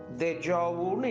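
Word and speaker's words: déjà vu: ஒரு கைட்லைன் அப்படி சொல்லலாம் இப்ப இதனுடைய உச்சரிப்பு தேஜாவு அப்படி படிக்கணும் இப்ப தேஜாவுனா என்ன அப்படின்னா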